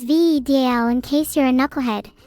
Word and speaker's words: Vedal: Val, pronounced as V DL, in case you're a